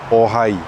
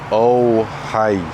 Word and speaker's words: ohai: So when you pronounce any o, yeah, make sure you keep your mouth in the same position before moving on, yeah? So ohai, ohai, instead of oh hi.